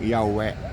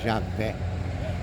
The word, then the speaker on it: Yahweh: Por isso que muita gente lê como Yahweh, Javé.